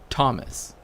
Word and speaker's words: Thomas: but with different letters H is supposed to represent sometimes that the letter next to it is pronounced differently right like there's something happening to that right this is why you have t h m right Thomas and you also have